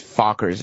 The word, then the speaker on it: Fockers: But it's Fockers is how it's pronounced.